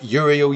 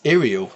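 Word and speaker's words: Iyanden: And I always said Uriel yellow. It's Iriel yellow. You pronounce it as an I, not a Y.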